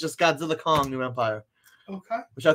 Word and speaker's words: Godzilla x Kong: You know, I read that it's called Godzilla X Kong, but it's actually pronounced Godzilla Kong. You don't even pronounce, there's no verses, no X, it's just Godzilla Kong, New Empire.